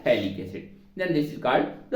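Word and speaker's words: phthalic: थोड़ी सी अलग है पीएच यहां पे साइलेंट रहता है वैसे पीएच के साथ पढ़ देंगे तो फैलिक एसिड हो जाएगा ये होता है थैलिक्स देन दिस इज कॉल्ड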